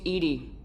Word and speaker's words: EDI: have a specific inquiry why are you named Edie Ed is the phonetic pronunciation of Eed I that is an acronym